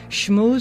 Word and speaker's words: Schmooze: Schmooze spelled like school, SCHMOOZE.